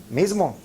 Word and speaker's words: mismo: Mismo. So we do have the z sound in Spanish, but we were not aware.